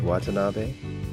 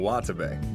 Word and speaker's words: Watabe: Right, Watanabe? You mean Watabe.